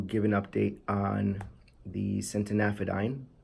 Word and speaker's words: centanafadine: an update on the sentient aphid ein that's how I've decided to pronounce it now since an aphid ein because it has that a at the end so that's what I'm